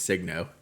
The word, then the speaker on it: Signo: Like when I'm like all I deal with is brands and like people ask me, how do you say Signo? I still don't believe it's Signo, even though that's what they say it is.